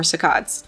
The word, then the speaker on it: saccades: Then there are saccades, or saccades, depending on your pronunciation.